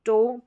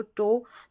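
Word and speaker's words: toe: Next number eight पर ओ ई इसको ओ करके पढ़ रहे हैं। ओ ई को क्या पढ़ रहे हैं? ओ करके इसका उच्चारण भी। जैसे कि यहां पर देखिए टो पैर की जो उंगली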